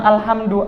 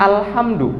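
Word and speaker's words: الحمد: Beda sama alhamdu. Alhamdu itu pujian. Sesuatu yang terpuji dan tinggi. Itu namanya alhamdu. Kita memuji Allah berarti alhamdu, bukan alham- du.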